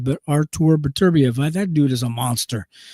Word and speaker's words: Beterbiev: Number two is Artur Beterbiev, Better Beef. Some people pronounce his name Better Beef, but Artur Beterbiev, that dude is a monster.